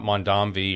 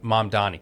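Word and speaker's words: Mamdani: Um, and I know we've talked about Mandami or how do you say his name? I see this is this is how disconnected I am from. I know. Go ahead. Zoron. Mandani. Mam Dani.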